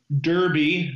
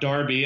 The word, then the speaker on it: Derby: move on to the Belmont Derby not darby as i famously mispronounce it on the show long ago let's talk